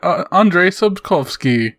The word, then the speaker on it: Andrzej Sapkowski: what let's let's both both say it together Andrzej Sapkowski that's how you say it the way he